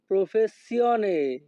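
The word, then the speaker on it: professione: ওয়াল এ লাতুয়া প্রফেসিয়নে Italian ভাষাতে ই এর উচ্চারণ হয় এ যখনই আমরা ইতালিয়ান ভাষায় কাউকে বলতে চাইবো আপনার পেশা কি তখন আমাদেরকে বলতে হবে এলা তুয়া প্রফেসিয়নে আমাদের পরবর্তী বাক্যটি আছে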